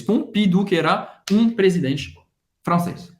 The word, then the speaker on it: Pompidou: Pompidou. Pompidou. O M tem o som do e o U, a gente já viu, tem o som do U, da letra U em português. Pompidou, que era um presidente francês.